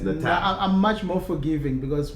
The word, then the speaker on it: Natal: I've actually had somebody send me a message saying, a voice message, Mark, this is how you say it, because I was saying Natal. And it's Natal.